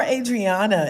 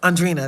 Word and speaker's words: Andrina: And um so this commercial is up and Jeremiah, poor Adriana. And I I say her the wrong name. I say her name wrong, too. Um Andreana. And Andrina. Andrina. Andrina. That's her name.